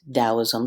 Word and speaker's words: Taoism: what you're talking about, it's pronounced more with a D.